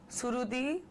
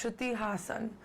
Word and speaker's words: Shruti Hassan: god the whole name i hate it when people mispronounce my name and my surname so i get shruti suruti strudi hassan no it's shruti hassan and i would really